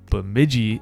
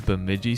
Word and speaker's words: Bemidji: anyone who is a bemidji state fan for some reason in my head i thought the way to pronounce it was with a silent j but i appreciate those